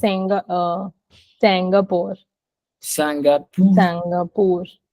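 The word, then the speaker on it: Singapour: say it like English we don't say Singapore okay we have to read it in the French way and we have to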